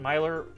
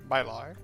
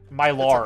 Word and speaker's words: Meilyr: I'm sorry, just the way it's spelled, because it's spelled Meilyr, and I keep thinking, I don't know why that's Mylar is hard for me to, like, okay, we got it, we'll get it going forward.